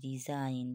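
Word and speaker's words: resign: আই এ জি এন রিজাইন ঠিক আছে এখানে এস এর জন্য জ এসছে ঠিক আছে রিজাইন সাইন এস আই জি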